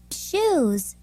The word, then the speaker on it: shoes: 그런 부분에 유의하면서 이 단어들의 원어민 발음을 들어보도록 하겠습니다. golf, golf. 2, friend, friend. shoes, shoes, cash, cash, strike, strike, bridge, bridge, hand, hand, 네, 골프가 아니라 golf죠.